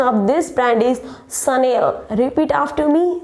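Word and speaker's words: Chanel: Actually it's not channel. The correct pronunciation of this brand is Sunil. Repeat after me, Sunil.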